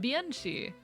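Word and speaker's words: bean sidhe: For those unaware, Banshee is an Anglicization of Bianchi, meaning woman fairy. And yes, it is spelled B-E-A-N space S-I-D-H-E. Banshee. Turned into Banshee.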